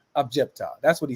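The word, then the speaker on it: عجبت: Sometimes, we just, even though the word is objecta, but when we recite, we don't usually say the end of it sometimes.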